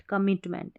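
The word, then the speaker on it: commitment: पढ़ना है यहाँ पर, तो कई बार कॉम करके भी पढ़ते हैं, तो आपको सीधा सा ऐसे याद रखना है, COMMIT, कमिट होता है, फिर मेंट, कमिटमेंट, ऐसे याद रखना है।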